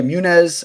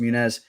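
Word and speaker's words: Muniz: talented fighter uh yeah munez i think i think it's pronounced munez or munez whoever you say that but uh he you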